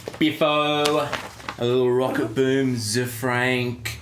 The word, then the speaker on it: Zefrank: And finally, on our tech biffo, a little rocket boom, Zefrank. Zay. Is it? Zay Frank. That's an Australian mispronunciation, Zefrank.